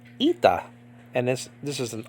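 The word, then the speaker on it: ήτα: sound okay a but in modern Greek this is called ITA and this this is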